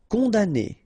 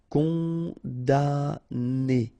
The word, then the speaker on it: condamné: Condamné. Okay, so it's really strange because this M here, well, technically it's not pronounced. Condamné.